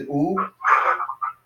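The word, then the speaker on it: ου: Yeah, so that's pronounced as oo.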